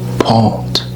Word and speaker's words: pot: Pot, the same as French, but you pronounce the T.